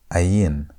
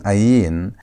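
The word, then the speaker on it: עין: Ayin is silent, meaning that it has no sound of its own.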